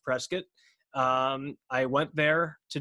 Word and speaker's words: Prescott: to be in prescott arizona or i said prescott turns out it's pronounced prescott um i went there to do stand-up comedy